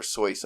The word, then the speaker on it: Seuss: Seuss, I think. Yeah? Yeah. It's Dr. Seuss as we know him, but I'm pretty sure he pronounced it Seuss, as in like noise almost, or soy sauce.